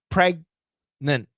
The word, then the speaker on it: pregnant: Stop, G. But stop. Don't finish. Pregnant. And then go right to the end.